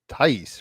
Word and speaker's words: Thaïs: It's Thaïs, right? Yeah, correct. All right, cool. We'll geek out on that in a second. So yeah, it is episode 321 contact with Arabella Thaïs, Curating Vibes.